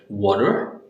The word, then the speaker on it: water: Flap T is nothing but when your T has a sound of soft D, right? T has sound of soft D. We looked at the examples before: water, better, butter, and then